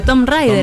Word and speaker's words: Tomb Raider: es el libro pero Tom Rider Tom Rider Tom Rider un libro que no como ustedes quier para se escribe t o MB entonces Tomb Raider como Tom está bien no importa